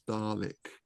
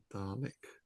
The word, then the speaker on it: Dalek: They're spelt Dalek, but they're pronounced Dalek. Right. Yeah, I've only ever known it as Dalek.